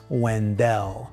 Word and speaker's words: Wendell: Now, locals will tell you right away it's pronounced Wendell.